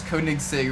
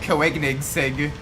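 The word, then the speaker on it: Koenigsegg: I used to pronounce kig Sig really weird yeah that one I think I think when I was younger I used to pronounce it coig Sig like no it's kig Sig coig Sig kig Sig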